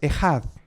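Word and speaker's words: אחד: uno es esa palabra uno en hebreo es el hat se escribe a the hat y se usa en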